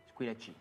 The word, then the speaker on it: Squilachi: au nom de Squilachi. Squilachi. Squilachi, avec un chi, comme ça se prononce.